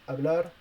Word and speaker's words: hablar: quite easy to understand if the h is alone i mean not with the c before it has to be muted and if it's the ch